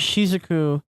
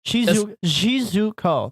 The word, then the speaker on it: Shizuko: I mean, yeah, and it also plays Shizuku, or it also plays Shizuku. Wow, I can't pronounce it. Shizuko.